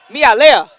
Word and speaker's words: Melia: out of CAG Grande I think it's Erica malea is actually how you pronounce it malea in the green